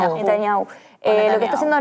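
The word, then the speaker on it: Netanyahu: que está haciendo Netania, ¿cómo es que la pronunciación correcta? Netaniau.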